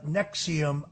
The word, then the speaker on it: NXIVM: It was the deep investigative reporting of Frank Parlatto uh that brought down the Nexium sex cult that's spelled NXIVM for those who are unfamiliar with it.